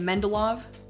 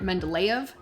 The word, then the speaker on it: Mendeleev: looking dimitri men uh well i pronounce his last name mendolov i've also heard it mendeleev either way works uh was a chemist